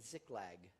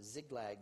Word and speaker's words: Ziklag: The curtain opens with David in Ziklag. I think you can see it, or Ziklag. Ziklag, I think, is how it's pronounced.